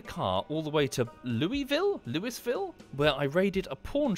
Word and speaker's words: Louisville: I've driven the car all the way to Louisville, where I raided a pawn shop, which was completely barricaded and untouched.